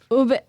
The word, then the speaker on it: ube: I've seen people say upe.